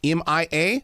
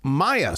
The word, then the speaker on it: Mia: it off with one thing my granddaughter uh pronounces her name Mia M.I.A but I've also worked with people her name is Maya spelled the same way so how how do